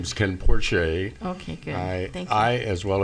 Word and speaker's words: Porche: um Ken um porch por Porche am I pronouncing your name correctly sir I I am hi my name is Ken Porche okay good I as well as a bunch